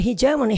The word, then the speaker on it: hegemony: 우리 헤게모니, 영어 발음은 hegemony, 헤게모니, 패권, 주도권이죠.